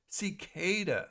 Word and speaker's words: cicada: Cicada. Duh. They make Kellogg's Frosted Flakes and Fruit Loops and protein powder, you know. Really? Oh, that's odd. Cicada. So, oh, cicada. Cicada. Okay. That's how you pronounce cicada.